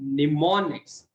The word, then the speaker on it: mnemonics: So in assembly language consists of mnemonics. This M over here is silent.